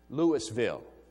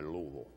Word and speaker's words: Louisville: the University of L Lewisville Louisville you shove that cotton in the side there and say Louisville if you're going to